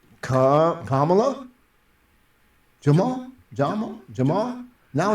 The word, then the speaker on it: Kamala: time I mentioned a name I was like camela he's like I don't think it's camela he